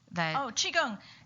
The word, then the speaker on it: Qigong: Qigong. Qigong is spelled two different ways because of the two different phonetic systems that they have in China.